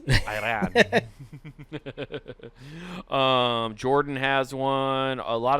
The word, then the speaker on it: Iran: Iran does, too. Ireland does not. Surprise, surprise. You said it wrong. It's Iran. Yes, Iran.